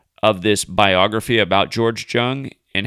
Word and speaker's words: Jung: I wasn't sure if it was Jung or Young. I couldn't remember, but it's based on the biography that I watched. It's George Jung, But I just gotta